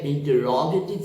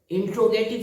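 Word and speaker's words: interrogative: अब तीसरा हमारा होता है इंटरोगेटिव सेंटेंस। अब गौर करें, इंट्रोगेटिव सेंटेंस नहीं कहते हैं, इसका प्रोनाउंसिएशन जो होता है वो इंटरोगेटिव।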